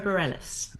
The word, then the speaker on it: Bareilles: Barelis. Sarah Bareilles.